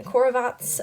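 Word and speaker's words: խորոված: in charge of preparing barbecue it is actually pronounced in armenian corvats but it's like the skewers type of thing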